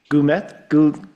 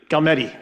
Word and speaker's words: Galmetti: Nathan, I always pronounce his his last name is wrong. Goulet, correct? Galmetti, thank you.